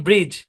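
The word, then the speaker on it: bridge: এই শব্দের উচ্চারণ ব্রিজ, এটার উচ্চারণ নলিজ, বা আমরা নলেজ বলতে পারি, নলেজ।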